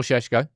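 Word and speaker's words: Šeško: Right, as I said, we'll have a little conversation about Shesho now. That is how you pronounce his name.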